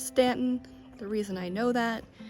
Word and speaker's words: Staunton: 14 and you can come out to the Stanton River yes it's Stanton the reason I know that is because in